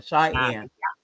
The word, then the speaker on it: Cheyenne: Yeah, Cheyenne.